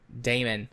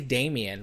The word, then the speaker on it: Damon: Damon. I keep wanting to say Damien. Like, I think that, and my brain's like, no, that's not right.